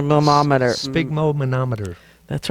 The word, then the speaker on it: sphygmomanometer: like big no-no my mom at her big moma no meter that's right that's how you say it and